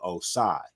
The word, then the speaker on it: Oscyi: So I switched it up from to Oscyi.